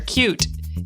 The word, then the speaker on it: Qt: you all are aware cute is spelled qt so find out more information